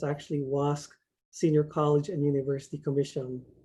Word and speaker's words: WASC: So WASC is the Western Association of Schools and Colleges, and it's actually WASC Senior College and University Commission. They're supposedly pronouncing this acronym as WASC.